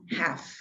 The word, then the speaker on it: half: word in this word the letter l is a silent letter l is a silent letter half half like like all the